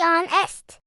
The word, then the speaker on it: honest: We don't pronounce the H, do we? It's silent. We say honest.